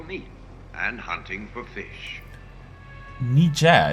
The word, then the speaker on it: Niger: and hunting for fish nija it's how you pronounce it i always call it niger huh maybe i've learned